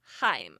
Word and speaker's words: heim: And then the Norse the old Norse word for home which is pronounced him. Yep. like Yotenheim, Alheim, like they are pronounced heim. They're not pronounced hem.